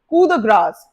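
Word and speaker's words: coup de grâce: Next one आप number 26, कैसे pronounce करते हैं इस वर्ड को, कू द ग्रास।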